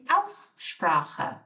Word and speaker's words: Aussprache: Interestingly, the word pronunciation, which I can't pronounce, which is a bit odd, pronunciation is Aussprache. So we've got the Au sound and the Ch sound in there as well, Aussprache.